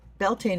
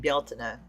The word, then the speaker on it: Beltane: couple different, but uh Beltaine has always been Beltaine, but I'm hearing um Gaelic and Irish speakers saying Baltina, so I'm retraining myself to pronounce it correctly.